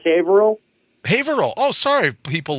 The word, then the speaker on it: Haverhill: everyone there alright Oh Averill yeah yeah like a vaudeville hat was was at an H and you'd say had Ville you go no just drop the H you'd say Advil all